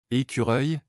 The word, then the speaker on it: écureuil: En français, les mots se terminant par œil ou œil ont une prononciation particulière, où la terminaison produit un léger son i, j. Écureuil, l'écureuil grimpe à l'arbre.